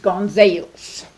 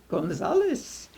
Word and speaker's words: Gonzales: gong sales and my mother said it's pronounced gona solace and her neighbor said I'm sorry it's spelled